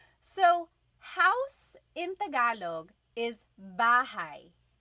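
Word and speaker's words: bahay: Okay, so house in Tagalog is bahigh. Bahai.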